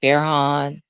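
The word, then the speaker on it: Farhan: is fair on pharaoh i guess he pronounces that f-a-r-h-a-e okay fair han okay and fair han he is uh 19 yep he's 19.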